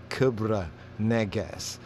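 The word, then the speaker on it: Kebra Nagast: glory of the kings kebra nagas the cabra negas ethiopian pronunciation cobra i you know the cobra negas kubra kubra negas regular pronunciation kebra kibra but it's the glory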